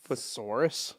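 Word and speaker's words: thesaurus: Thsaurus.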